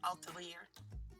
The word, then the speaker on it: Atelier: It's French. Atelier. Burgundy. Yeah, first. I can't pronounce it quite the French way, but it's Atelier.